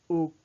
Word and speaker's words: ou: Vous désirez café ou coca ou moi? The or in French is ou. It's pronounced as ou.